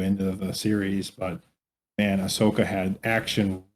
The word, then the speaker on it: Ahsoka: Ahsoka. Is that how you pronounce her name?